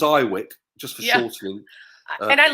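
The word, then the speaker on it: IWYK: yeah I IW YK we pronounce it as I Wick just for shortening and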